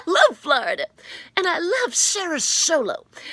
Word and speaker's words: SaraSolo: Florida and I love Sarah solo although I thought it was pronounced differently but apparently it's pronounced Sarah solo and Sarah solo wants